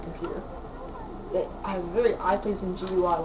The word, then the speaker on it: GUI: It has very eye-pleasing GUI like Mac OS X, like Leopard does. No, Leopard is Mac OS X Leopard. And has about like a good eye-pleasing GUI, or GUI, it's pronounced.